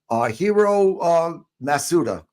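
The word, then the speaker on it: Hiro Matsuda: Now in chapter 3, you talk about you were approached by the great, legendary, in my opinion, legendary Hiro Masuda. Pronouncing it right?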